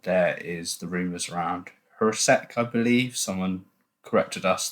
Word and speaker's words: Jurasek: And there is the rumours around Jurasek, I believe. Someone corrected us that the J is pronounced as a H.